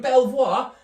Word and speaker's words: Belvoir: We've got Neville and Oliver from Belvoir. Apparently it's pronounced Beaver, don't sound right.